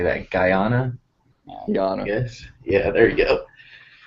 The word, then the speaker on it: Guyana: land guyana guyana how do you say that guyana yes yeah there you go portland up 2-1